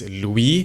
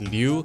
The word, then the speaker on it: Lui: Seth Liu Seth Louis because it's l-u-i right technically it's Louis but so many people say Seth Liu we're just gonna call